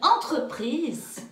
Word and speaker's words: entreprise: Et quand le son en EN est au commencement, au début du mot, on ne dit pas ent, on dit une entreprise.